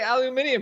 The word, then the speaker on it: aluminium: I was shocked like how's he not say aluminium here so uh well uh so earnings uh